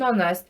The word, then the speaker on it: honest: Porque nesses dois exemplos o H está mudo. Vamos observar. An honest man. Honest. Parece que eu estou dizendo honest. Tem o H. Né? Tem o H, mas ele não é pronunciado.